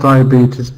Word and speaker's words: diabetes: Bridget you're right about diabetes now I think about it is three syllables I think DIA diab it's diabetes just the first syllable it's the dip thong Dia D so I think I have